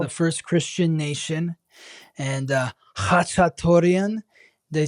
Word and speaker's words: Khachatourian: So in Armenian, it would be pronounced Khachatourian with the ch, like that. Khachatourian, yeah.